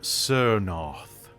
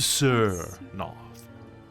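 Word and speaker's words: Tsernoth: I traded that book to a necromancer named Sernoth, with a T. To Sernoth. Oh. In the common alphabet, T-S-E-R-N-O-T-H.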